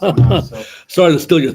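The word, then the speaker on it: חמס: I mean, yeah, it's pronounced Hamas, so Sorry to steal your thunder, but yeah, you're right.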